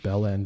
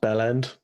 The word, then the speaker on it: bell end: She used the term bell end at one point, I think. Oh hell yeah! It's pronounced bell end, so it's all one word as if it's a single syllable.